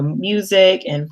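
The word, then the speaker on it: música: actually pretty similar to music and english you just pronounce it slightly different and then you have an a at the end so in spanish is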